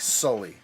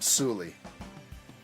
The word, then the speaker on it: Sully: hey Sully stick together should be pronounced like Sully like uh Monsters Incorporated but she straight up called him suly you little suly you